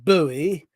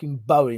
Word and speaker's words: Bowie: show you look until someone goes back in time and records someone saying buoy i refuse to say it it's bowie knife and it always will be come on is it